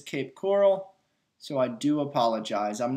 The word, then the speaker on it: Cape Coral: I pronounced it Cape Corral and it's not really the okay corral down there in Florida. So, it is Cape Coral, so I do apologize.